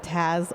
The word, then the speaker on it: Taz: I was going to say Taz added a little note for us on the pronunciation column that says Taz like the Looney Tune.